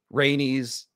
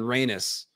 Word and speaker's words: Rhaenys: anes not anus aenes rhaenys aegon this is what i feel strongly about aegin and raynus are right out i can't listen to any podcasts that say aegin or raynus or daenerys i like